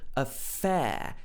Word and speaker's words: affair: pronunciation hour hour and in affair you have the long diphthong sound air so this is particular